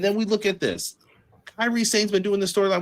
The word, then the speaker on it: Kairi: sidekick, but I mean, Kairi I call her Kairi. I'm I don't know if I'm pronouncing her name right.